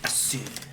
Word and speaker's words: Asure: But the E is like the E in Pokemon. Pokemon. Oh, I knew how to say it. I just didn't know how you spelled it. Sure. Sure. Right. Assure.